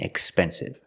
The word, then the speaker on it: expensive: We see with expensive, there's a P after the X. That's a consonant, so that tells you use the X sound with no voice. Excited and expensive.